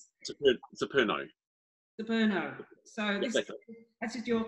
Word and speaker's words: Xeperno: Now, I don't know how you need to pronounce this, Paul. Xeperno? Xeperno.